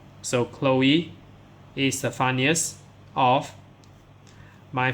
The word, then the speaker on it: Chloe: So this name, Chloe. So many people maybe don't know how to pronounce this name here.